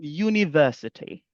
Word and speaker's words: university: Comme par exemple le mot university. université. Vous voulez dire une université, vous allez dire a university because parce que le U ici a le son de you.